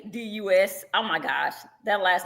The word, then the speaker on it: Readus: And it's Readus. Oh my gosh, that last name has been butchered so much. No, it's very easy. It's literally read us. It's simple. Read us.